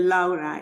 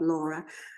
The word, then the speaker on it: Lara: my name very well it's including the Lara it's the Italian way not Laura but um um I'm